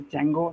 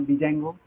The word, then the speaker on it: Django: spellings are correct uh Django starts with a D and it is pronounced as Django not dijango just for your information